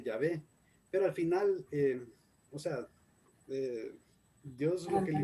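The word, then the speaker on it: Yavé: es voy a ver en inglés ya web pero en español como traducido al español se puede decir es llave aunque latina guisado me pusieron de nombre de jehová habría que ver de acuerdo con esa traducción prefieren llamarle ya ve pero al final dios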